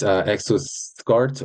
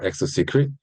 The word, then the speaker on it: ExoSCRT: ExoSCRT, we usually pronounce this ExoSCART or ExoSecret.